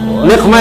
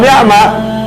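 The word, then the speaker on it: نقمة: Wan niqmah, niqmah itu juga sama, musibah, bencana, azab, niqmah. Kalau antum bacanya wan ni'mah, ilahi ya Allah, selamatkan umat ini dari nikmat. Berbahaya kan? Suruh selamatkan dari nikmat.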